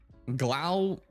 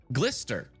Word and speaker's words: Gloucester: Framingham, Salem, Danvers, Lynn, Glowchester or kind of like Woo. Yeah, this is Wister. So, this is Glister obviously.